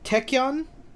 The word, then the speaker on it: tachyon: his fighting style is techyon yeah tachyon you said it right yes i did that